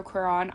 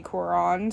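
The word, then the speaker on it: Cuarón: and directed by Alfonso quiron I really apologize if I'm saying that wrong um I don't speak Spanish um and all of the English speakers that I have heard pronounce his name say Quran so I apologize in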